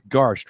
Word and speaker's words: Garst: reading some and it's it's Garst right that's the correct pronunciation perfect I always ask